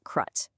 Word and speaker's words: CRUT: The charitable remainder unit trust or CUT and it's pronounced CRUT. At its heart, a croo is an irrevocable trust designed to accomplish two primary things.